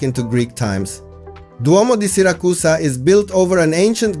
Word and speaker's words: Siracusa: It is located on the southeastern coast of Sicily in Italy, facing the beautiful Ionian Sea, and it is pronounced as Siracusa in Italian.